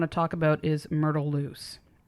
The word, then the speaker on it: Luce: The next patient I want to talk about is Myrtle Loose. And it's spelled Luce. I think I'm saying it right. Yeah, Loose. Yeah, that sounds right.